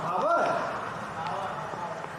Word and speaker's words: hour: तो HOUR शुरुआत H से है लेकिन कैसे होता है? आवर। अंडाकार अ होता है, अगर उच्चारण नहीं करते आवर।